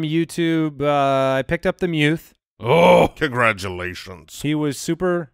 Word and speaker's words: Muth: It's pronounced Muth. Muth, but it's spelled M-U-T-H, which you would read Muth.